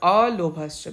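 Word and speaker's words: अलोभश्च: And alobhascha, worth mentioning, it should not be pronounced as lobhascha but alobhascha, because lob means lob, actually it is important to know that lob means greed and alobha means greedlessness.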